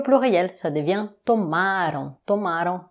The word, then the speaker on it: tomaram: E o pluriel, ça devient tomaram, tomaram, attention, avant-dernière syllabe forte, vocês tomaram, vocês tomaram.